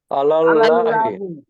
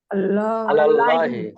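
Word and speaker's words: عَلَى اللَّهِ: আলাল্লাহি। আলাল্লাহি। আল্লাহি। এই যে আল্লাহ, এই শব্দটা করে উচ্চারণ আল্লাহি।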